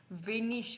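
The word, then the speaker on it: wenig: okay next है आईजी अगर last में आईजी हो तो वो हमेशा इश्की साउंड करेगा आई जी लास्ट में हो तो वो हमेशा इश की साउंड करेगा जैसे कि रूही वेनिश वेनिश का मतलब होता है लेस कम रहिस को बोलते हैं हम पीसफुल या क्वाइट को हम जर्मन में रहिस बोलते हैं लेस को यानी कम को हम वेनिश बोलते हैं उसके बाद जो है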